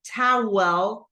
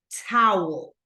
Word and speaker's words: towel: notice right here that we don't say towel like two syllables but towel okay like this towel towel